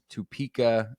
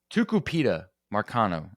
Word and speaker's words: Tucupita Marcano: But anyway, so let's talk about Tupika or how do you pronounce this man's name? Tucupita Marcano.